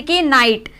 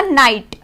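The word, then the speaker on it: knight: जैसे कि नाइट, एन से पहले के आ गया तो हम के नाइट नहीं बोलेंगे, वो प्रोनाउंस गलत होता है, इसको बोला जाएगा नाइट।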